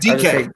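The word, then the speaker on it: Dike: Chim Dyke. DK. It's DK. Yeah, That's how you say it.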